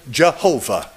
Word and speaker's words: Jehovah: And here's how they pronounced that. Yehovah. In English, we say Jehovah. Now, they've come along today and it's all Yahweh.